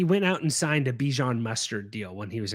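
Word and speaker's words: Bijan: You guys saw that Bjon said his name is pronounced Bjon, right? Yeah. The problem is is I I I saw him say it's Bjon, but it's like the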